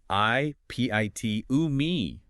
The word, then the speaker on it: epitome: Because of its Greek roots, the rule is you pronounce every single syllable. e p i t o m e.